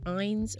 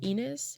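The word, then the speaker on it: Ines: like the latter and i-n-e-s can be pronounced either eins or enus i pronounce it like the latter once again because that's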